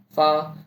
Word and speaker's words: 发: Fa, the same as the first syllable of fa, and cai, the C, ts.